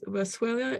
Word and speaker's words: Boswellia: Boswellia. Boswellia. How do you spell that?